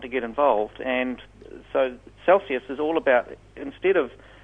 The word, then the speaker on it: Celsias: Is Celsius. It's spelt like a spelling mistake.